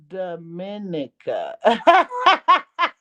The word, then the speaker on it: Dominica: Oh, Dominica. Dominica. I thought that's what I said. What did I say? Oh, Dominica.